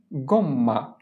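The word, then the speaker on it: gomma: Rubber এর Italian হচ্ছে গম্মা।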